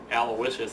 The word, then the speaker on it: Aloysius: s i u s aloicious is how you say it Le by all accounts that I've looked up that's how it's pronounced so it's going to